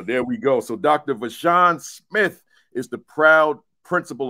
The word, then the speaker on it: VaShawn: It's VaShawn. Okay. So, So, there we go. So, Dr. VaShawn Smith is the proud principal of Grandview Middle School in Grandview, Missouri.